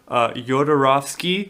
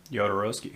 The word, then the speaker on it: Jodorowsky: So he, Dan O'Bannon, he was a screenwriter, and he was originally the sci-fi team was gotten together for Jodorowsky. Did I say it right? Jodorowsky.